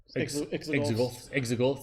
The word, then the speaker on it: Exogorth: Exogorths, that's how you say it.